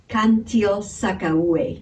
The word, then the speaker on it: Cantil-Sakauye: oh by the way her last name is cantil-sakauye a thank you so much for watching and